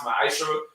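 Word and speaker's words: מעשר: Means 10th in Hebrew, and it's pronounced ma'asherah. 10% of every penny of any increase the Lord gives you, you get to the treasury department or teacher.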